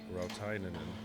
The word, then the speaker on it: Rautainen: Now, Rautainen. Rautainen. Have I said that right, Ryan? You did. I can confirm that is how you say that name.